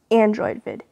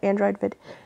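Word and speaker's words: Androvid: It is called Android Vid. And it's spelled A-N-D-R-O-V-I-D. And it's all one word, and it's called Android Vid.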